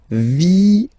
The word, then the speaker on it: viennent: And the rule in French is that when you get this and a double vowel after, you will have to pronounce this like eh, alright? So, viennent, viennent, viennent, viennent. Okay? Ils viennent, elles viennent. Ils viennent, elles viennent. All right? E-N-T, you don't pronounce them.